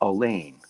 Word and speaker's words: Allain: alicia correct correct correct i believe the pronunciation of your last name is elaine it is so if you're a